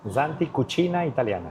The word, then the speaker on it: Santi Cucina Italiana: ¿Cómo se pronuncia eso correctamente? Santi Cucina Italiana.